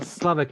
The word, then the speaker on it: Sławek: person to pronounce Sławomir, and also Sławek, by the way, because this is the most correct version of the name that I prefer personally. But let's say that Slavek is okay.